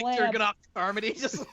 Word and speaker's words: Carmody: Camardi? What is it? Carmody.